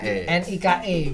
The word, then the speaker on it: Nike: Aparel tulisannya Ni K. Ni ke bacanya tapi Nike. Nike.